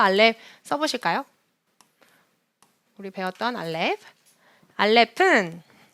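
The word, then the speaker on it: אלף: 써보실까요 우리 배웠던 알렙 알렙은 모음보호가 올 때만 발음하고 모음보호가 없을 때는 발음하지 않는다 묵은 발음이라고 말씀드렸어요 그렇기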